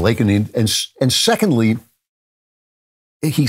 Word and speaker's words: Laken: He calls her Lincoln instead of Laken.